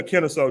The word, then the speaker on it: Kennesaw: Kennesaw? Yeah, Kennesaw, Georgia.